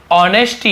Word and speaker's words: honesty: कीमत बोलेंगे यानी की मत ऑफ यानी की ऑनेस्टी यहां पे हा साइलेंट होता है इसे बोलेंगे की ऑनेस्टी नहीं